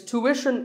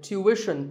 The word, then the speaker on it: tuition: It's tuition in American English and tuition in British English. So what's the hidden sound here? Well, the first syllable is easy. Tu, American, or tu, British. But after that, it's not ishan, it's wishin, tuition. You have to put the w sound there, so tuition.